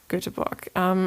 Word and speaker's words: Göteborg: And your last stop was Göteborg. You say it right? Yes. Göteborg.